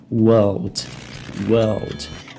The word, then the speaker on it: world: Eu só vou pronunciar o L aqui e o D mudo. Então, world. Só que no inglês americano, que é a variante mais falada mundo afora, eles têm um R, e o R ele vai ser fortemente pronunciado antes do L. Então tem um som aqui de basicamente 3 consoantes até o fim da palavra.